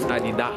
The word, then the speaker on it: Adidas: But because it's French, it's Adidas. Adidas. They don't pronounce the S.